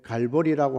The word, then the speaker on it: 갈보리: 흉악범들을 죽이는 그 십자가에, 그 십자가에는 끌고 가서 이제 갈보리라고 하는 라틴어적인 발음이 갈보리고 히브리 발음이 골고다인데 해골이라고 하는 언덕입니다.